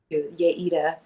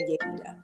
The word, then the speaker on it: Yaida: Uh just as minor correction to my pronunciation so people know since I'm Yaya. Um is Yayita. You say my you pronounce my first name. Yayita.